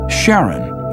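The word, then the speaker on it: Charon: Christy suggested the name Karen after the Ferman of Pluto's underworld in Greek mythology but preferred to pronounce it Sharon more like his wife's name Charlene from the Motions of Pluto and Sharon astronomers could work out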